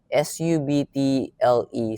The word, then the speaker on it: subtle: sub till sub okay because subtle silent b s u BT l e silent B that's subtle subtle but this one it's